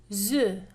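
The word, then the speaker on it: œufs: boeuf un boeuf des oeufs alors ici dont le pluriel on prononce pas le f attention dont le pluriel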